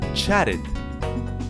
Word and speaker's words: chatted: first one is chat a good is cherry chatted chatted the next one is present great